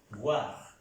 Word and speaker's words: voir: ¿Cómo se pronuncia? Es algo que ya debemos saber. El verbo ver es el verbo voir.